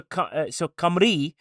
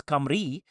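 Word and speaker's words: Cymru: So, so, so, so Camri. So, Simaru as it's spelled. It's Camri. Camri, that's how you say it.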